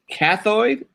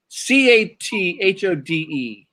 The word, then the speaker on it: cathode: What is a cathoid? CATHODE.